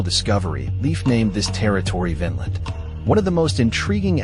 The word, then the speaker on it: Vinland: It should be noted that the old Norse word for meadow is pronounced Vinland with a short vowel as opposed to Vinland with a long vowel which means grape land.